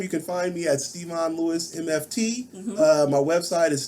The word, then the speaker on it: Stevon: I was like, how you pronounce this? Yeah, like Stevon. Stevon.